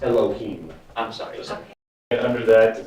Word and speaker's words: Elohim: power if I may injection on Earth it's pronounced Elohim I'm sorry under that does that appear to